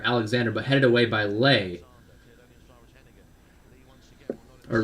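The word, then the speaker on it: Leigh: but headed away by lay or lee rather actually his his name is spelled like lay l-e-i-g-h like nay but anyway a cell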